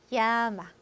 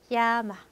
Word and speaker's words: llama: L 하나짜리만 리을 발음되고 L 두 개짜리는 tortilla, tortilla, llama, llama.